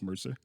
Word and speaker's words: Mercer: actually wondered a number of times if I'm pronouncing your last name correctly is it it's Mercer Mercer yeah yeah got it yeah just like